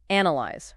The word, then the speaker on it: analyze: Analyze. Remember this one? It's niz. Stress on the first syllable.